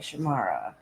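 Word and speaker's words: Shahmera: How do you pronounce it? Say it. S-H-A-H. Oh, S-H-A-H. M-E-R-A. M-E-R-A. Shamara.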